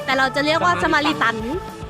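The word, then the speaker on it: Samaritaine: มัน ออก เสียง ว่า อะไร นะ เธอ สมารีเทน นั่น แหละ แต่ เรา จะ เรียก ว่า สมาริัน มัน เป็น เหมือน ห้าง เก่า แก่ ของ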